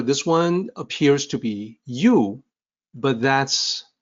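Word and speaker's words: 有: the opinion for this one appears to be you but that's not opinion system it actually sounds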